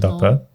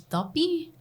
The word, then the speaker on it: duppy: Like here in the island, dape. I read online that it's duppy, but I mean we have our little accent. Yeah, of course.